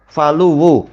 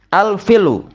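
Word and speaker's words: فلو: Kemudian beliau menjelaskan al-faluwu bi fathil fa wa dhammil lam wa tasydidil waw. Faluwu. Wa yuqalu aidan, boleh cara membacanya bi kasril fa wa iskanil lam wa takhfifil waw. Al-filu, al-filwu.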